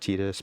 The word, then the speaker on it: Tidus: Apparently, it's pronounced Tetus, but that sounds gross. So, I'm gonna say Titus.